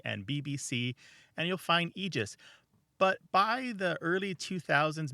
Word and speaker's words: Aegis: really good question Ross the most common pronunciation of the word AE g i s is egis and that's the oldest pronunciation too Martha I think that you probably grew up saying egis right I did indeed